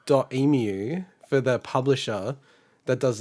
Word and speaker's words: Dotemu: the nintendo indie world they call it dotemu it's like three syllables how do you spell it d-o-t-e-m-u so i was reading it as dot emu did you say it